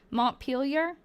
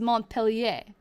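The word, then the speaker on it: Montpelier: So, if I was going to the way I pronounced it before was Mont Pelier, like Melier, that would be French. But apparently that's not how they pronounce it. It's Mont Peel.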